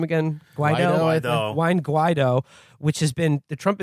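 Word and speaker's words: Juan Guaidó: The drive to replace Maduro with National Assembly leader Juan, how do you pronounce his name again? Juan Guaido, which has been the Trump administration's most robust foreign policy initiative after the attempt to disarm North Korea, has stalled.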